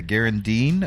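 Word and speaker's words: Gharu'ndim: here my little character and uh he's a Garand Dean uh is how they pronounce it uh which means he's kind of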